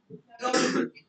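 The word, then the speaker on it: rendezvous: The pronunciation is रॉन्डवू.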